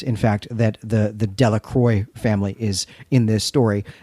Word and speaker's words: Delacroix: fact that the the de la croix family is in this story that's delacroix though jackson makes a note that they want the anglo pronunciation of that as de la croix this means of the